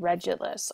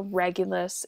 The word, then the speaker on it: Regulus: So, our first bright star that I'd like to teach you is called Regulus or Regulus. You're going to hear it pronounced in different ways. I typically say Regulus.